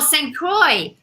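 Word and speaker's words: St. Croix: Oh, St. Croy. Oh, there you go. Like you said it with a French. It's pro. No, it's probably pronounced that way with a French um accent cuz the OIX.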